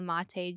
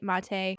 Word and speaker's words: Maté: here on chatting with Candace I have Daniel mate joining me did I say that right mate yeah pretty much okay I'm everyone mispronounces my name all of the time too